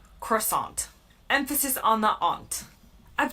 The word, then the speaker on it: croissant: In the US, I say croissant.